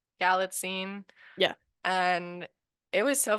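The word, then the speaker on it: Galitzine: his last name and it's basically like magazine but like galline yeah and it was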